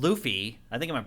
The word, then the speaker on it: Laufey: However, it turns out that Faye was actually a giant called Luffy. I think I'm pronouncing that correctly. Luffy or Laufey, depending on who you ask.